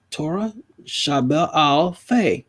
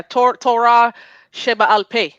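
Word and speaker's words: Torah she-be'al peh: Did I pronounce that right, Sister Shanti? I can't see. Shabbat al. Hold on. Oh, yeah. Oh, here we go. I got you. Yeah. Torah Sheba al Peh.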